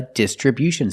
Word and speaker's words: distribution: from the Distribution Center distribution with the stress on the first and third syllable distribution again they distribute